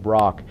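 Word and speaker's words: Brocq: Brock is spelled B R O C CQ.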